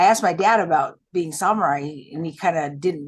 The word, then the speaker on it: samurai: Well, let the samurai be your guide. Oh, okay. And just FYI, it's not samurai, it's samurai. Samurai. Okay. Very samurai. Like all samurai. Samurai actually is Japanese.